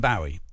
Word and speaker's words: Bowie: me that yeah well I call him bwii uh we all called him bow at my school so I say Bowie what's what's that about I don't know but it's it's spelled o w you know I mean